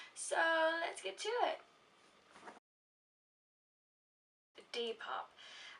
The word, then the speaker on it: Depop: let's get to it d pop i think that's how it's pronounced it's spelled d-e-p-o-p in case you want